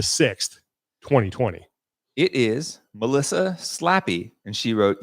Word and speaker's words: Slappy: It is Melissa Slappy. And she wrote, yes, it's pronounced exactly like you would think.